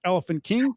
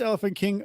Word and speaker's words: Elephante King: the Vegas Rock Band Elephant King today even though the spelling is wrong it's still pronounced Elephant King because yes how supposed